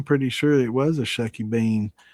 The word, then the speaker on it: shucky bean: I'm pretty sure it was a Shucky Bean. She never said Shack. It was Shuck. Shuck.